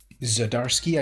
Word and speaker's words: Zdarsky: Zdarsky, I believe, is his correct pronunciation.